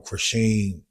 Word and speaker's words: Chrisean: I know you from the whole Chrisean. That's how you pronounce it.